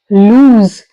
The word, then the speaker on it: lose: use the word loose there is a difference in the pronunciation also here we are ending with the z sound lose and here we are ending with the S sound loose now first one meaning